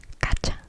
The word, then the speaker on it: gacha: the term gacho, gacho, gacho, or the feminine gacha, gacha, gacha. And it's spelled G A C H O.